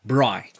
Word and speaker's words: braai: And we call it braai, like fly, but just with the BR, braai.